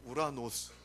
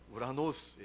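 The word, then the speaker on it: οὐρανός: 여러분 오늘 말씀의 나오니 하늘은 희랍어로 무 라노스 입니다 뭐 따라해 볼까요 우 라노스 발음 작아져야 합니다 오라 질이 아닙니다 우라노스의 예요 그런데 이 희 라보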